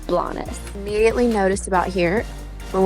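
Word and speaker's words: Blanes: We did mistakenly pronounce it as Blaine's off and on throughout this video, but the proper pronunciation we learned is Blas.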